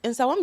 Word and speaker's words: Nsawam: in places like, you can correct my pronunciation, Nsawam, Koforidua, Koforidura. Sure. I'm really trying. Like, I learned, like, yesterday I was sitting there like, let me learn how to pronounce these words. In Sawam, you got right.